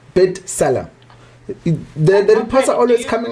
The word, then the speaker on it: B'Tselem: We also state that Israel's own B'Tselem, it's spelled with a B. And that copy thing on top there, and then Salem, T Salem, B'Tselem.